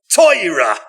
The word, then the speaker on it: Torah: Because, in Ashkenaz Jewish pronunciation, the Torah is not the Torah, it's not the Torah, it's Toira.